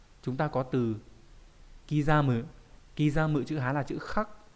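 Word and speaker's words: 刻む: Kizamu chữ Hán là chữ khắc, chữ khắc trong từ điêu khắc chô cố cự ấy, thì âm cư là đọc là kizamu.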